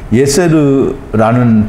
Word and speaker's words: 예셀: 예셀은 예세르라는 발음을 하는데요.